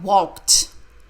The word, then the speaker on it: walked: of walk teach Andrea walked the Ed sounds like tea we walked with tea